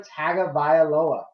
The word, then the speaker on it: Tagovailoa: Tagovailoa, right?